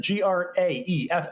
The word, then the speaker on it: Graeff: Is that Graeff? I guess. Yep. That's how you pronounce his name.